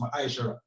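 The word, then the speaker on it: מעשר: Means 10 in the Hebrew and it's pronounced Ma'aishara.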